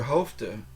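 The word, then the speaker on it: hoofd: um the reason is the word hofa spelled h o o f d n sounds the E the F sounds like a v h hofa even though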